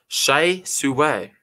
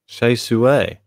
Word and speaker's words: Hsieh Su-wei: So Nathan there saying it's pronounced Hsieh Su-wei. Hsieh Su-wei.